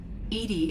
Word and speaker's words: EDI: is a jar why are you named Edie Edie is the phonetic pronunciation of e di that is an acronym